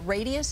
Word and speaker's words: Radiesse: You mentioned this product, Radius, is that how you pronounce it?